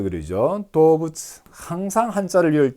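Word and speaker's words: 動物: 자, 코도문이 자 동물을 도부츠 그러죠. 도부츠 항상 한자를 외울 때 제가 왜 적어주느냐? 동은 도우다, 물은 부츠다 이렇게 발음이 난다라는 얘기입니다.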